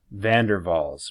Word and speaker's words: van der Waals: it's spelled van der capital W a ALS van der waals pronounced van der Waals forces so you get London